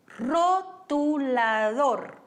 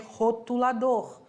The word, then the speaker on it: rotulador: Rotulador. De novo, o R vibrante não vai ser rotulador, vai ser rotulador.